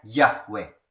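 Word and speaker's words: Yahweh: ada yang membacanya Yehua, ada yang membacanya Yahwe yaitu Allah Bapa.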